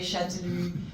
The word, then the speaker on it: Chastellux: You write Chastellux, but you say Châtelus, and it's terrible to remember for most people, but here we go, Châtelus.